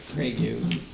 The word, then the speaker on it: Craigie: So the first case is the site plan review for Tyler Craigie. Craig. Just pronounced Craig, right? Just Craig.